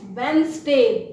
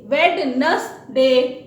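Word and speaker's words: Wednesday: फिर वर्ड आता है वेंसडे। वेडनसडे नहीं है, दिस इज वेंसडे, ध्यान से देखिएगा, वेंसडे।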